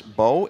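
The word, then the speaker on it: Mbow: And it is pronounced or spelled M-B-O-W. Yes, sir. The M is silent.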